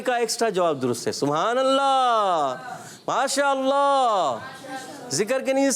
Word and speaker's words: سبحان اللہ: دیکھیں با میں کلکلا ہوا, ہا کی ادائیگی ہوئی اور سبحان اللہ.